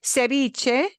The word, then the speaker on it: ceviche: the notes see and we pronounce that V like a b ceviche Ceviche is there's a real